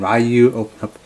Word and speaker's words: Ryu: Capcom infinite of all game reverse at 2-pack a black widow and ryuou kind of packaging and yes I know if I'm pronouncing I've been screwing up the name Ford